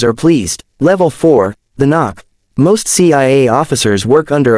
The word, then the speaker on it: NOC: Non-official cover. Knock. Pronounced knock.